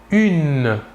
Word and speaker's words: une: une il s'écrie humaine il faut bien différencier la prononciation entre le masculin et le féminin au masculin 1 et au féminin une voilà encore deux exemples